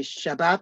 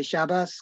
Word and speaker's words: Shabbat: Some will say Shabbat and some will say Shabbos because they're using Yiddish.